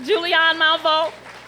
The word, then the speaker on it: Julianne Malveaux: Julianne, let's say it right, Julianne Malveaux.